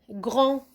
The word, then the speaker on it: grand: que je dois faire je dois tout simplement chercher un autre mot de la même famille le plus simple pas la peine de dire grandeur par exemple on peut dire tout simplement grande des et l'a automatiquement je vais comprendre que grand puisque le féminin cette grande et on a ajouté